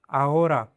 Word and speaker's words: ahora: If H appears in the middle of a word, simply connect the surrounding sounds and do not pronounce the H. For example, ahora is pronounced "aora."